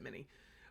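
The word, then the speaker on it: Minié: ball or monet ball it's technically a monet ball because it's french but americans most of us pronounce it many but i'm in a ball now most confirmed sharp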